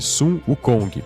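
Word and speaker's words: Sun Wukong: é pronunciado já que Son Goku é a pronúncia japonesa de Sum uk Kong Afinal Dragon Ball é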